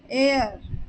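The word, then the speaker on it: heir: वाला हकर हकर वारिस एयर यहां पर भी ए साइलेंट होगा और ई आई आर का प्रोनंसिएशन करेंगे तो इसे हम पढ़ेंगे एयर एयर यानी होता है वारिस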